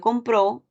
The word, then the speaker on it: compró: ejemplo la palabra compro la palabra compro ubica el acento en la penúltima sílaba en cambio compró ubica el acento en la última sílaba cuando uno aprende una